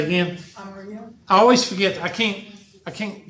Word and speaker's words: amarillo: Amarillo. I always forget. I can't, Aramillo, or say it one more time.